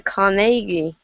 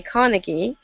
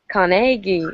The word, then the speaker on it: Carnegie: recently and i discovered that the way to pronounce his name is actually andrew carnegie um yeah americans tend to say carnegie and that's what i used to say but in scotland they say carnegie or like like um exactly um so uh